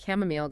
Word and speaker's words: chamomile: Yes, she points out that chamomile actually has two common correct pronunciations. You can say chamomile or chamomile, which is helpful, right? Gives options.